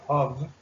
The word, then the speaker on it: of: Hay gente que lo pronuncia así, pero en realidad lo más apropiado es pronunciarlo como una V chica, entonces sería of.